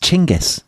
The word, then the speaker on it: Genghis: And Dominic, as Peter Franopan, a cricketing compadre of mine would tell you, it's actually pronounced Chingis.